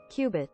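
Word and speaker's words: qubit: look this word up Qui quipped hold on pronunciation Cubit Cubit okay Cubit Cubit uh just like an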